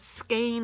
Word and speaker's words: skein: remember that is S and then cane. So it's easy to remember, at least easier for me to remember now that she told me that. I don't know why, but I could never remember how to say it. Skein, scone, I don't know. It was crazy. But skein is the way that we say it.